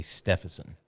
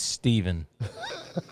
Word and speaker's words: Stephenson: My last name is Stevenson, spelled with a PH, and I'm constantly having to correct people and tell people how to pronounce it. They keep wanting to say Stephenson.